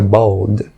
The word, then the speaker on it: balled: E a expressão balled it up, balled é o passado de ball, e o E não é pronunciado, portanto fica balled.